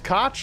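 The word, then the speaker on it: Kotch: me pronouncing it wrong it's cotch like Scotch Mike I appreciate you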